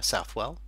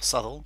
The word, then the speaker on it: Southwell: So they're currently running at Southwell, or Southall, depending upon how you choose to pronounce it, but you'll see the projected SP against the actual SP within the market here as well.